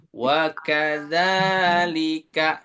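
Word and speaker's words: وَكَذَٰلِكَ: Wa kadza, za-nya ada fathah berdiri. Dibacanya di ayun. Wa kadzalika.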